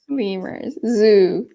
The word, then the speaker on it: zoo: Zoo. It's a zoo. Be careful with your pronunciation. Zoo. Zoo. It's like not double O, but U. Ooh. You have to make a circle.